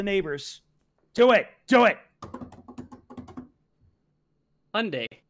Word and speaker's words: Hyundai: Hyundai. It's pronounced like Sunday.